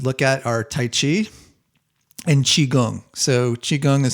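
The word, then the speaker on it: qigong: would I would look at are taichi and chiong so chiong is spelled Qi and then g n g chiong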